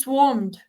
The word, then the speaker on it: swarmed: correct pronunciation is swarmed. Swarmed. Swarm. Swarmed. Can you say it again? Swarm. Swarmed. The W Swarm. sound has to be more pronounced.